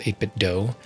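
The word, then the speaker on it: 8BitDo: I believe they pronounce it 8-bit DOE.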